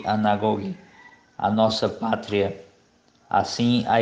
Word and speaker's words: anagoge: Podemos ver realidades e acontecimentos em sua significação eterna, conduzindo-nos, em grego, anagoge, pronuncie anagoge, a nossa pátria.